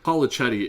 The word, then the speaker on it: Polichetti: and they're called the Police Chetty brothers, and they say it fast, but the point of it is police is in their name. Polichetti is how they say it in the show, but like the big